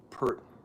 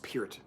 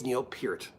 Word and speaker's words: Peart: we just kind of drifted away and it's pronounced pert oh it's not pronounced it's pronounced it's pronounced peered any I know people who grew up with